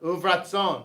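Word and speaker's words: וברצון: Now notice when you hear this pronounced, so like go back here, this is literally uvaratzon, but when it's pronounced, it's usually pronounced like uvratzon. So it's kind of pronounced together.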